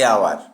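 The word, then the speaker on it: hour: এখানে আওয়ার শব্দটি বানানে এইচ থাকলেও এটি উচ্চারিত হয় না।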